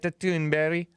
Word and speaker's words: Thunberg: touch on Greta tunberry G tunberry shout out to Samuel from Sweden for correcting my pronunciation hopefully I'm doing it it justice because that is a Swedish name she's the one who's